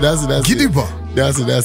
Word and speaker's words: Gidigba: So when there's a G-B and an A, it's... The B silent. Exactly. Ah. It's called Gidiba.